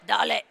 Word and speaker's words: dale: What's important is that Dale is pronounced like Pitbull says it. Dale.